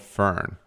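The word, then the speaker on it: firn: So Liam and the team are there studying something called fern. And no, not fern as in the plant. This is spelled F-I-R-N.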